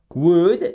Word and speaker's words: would: Would, et là aussi, on ne se prononce pas le L, attention.